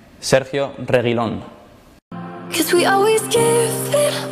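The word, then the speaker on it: Sergio Reguilón: and cameron's first hi fans this is how pronounced my name sergio reylon cause we always give it one last try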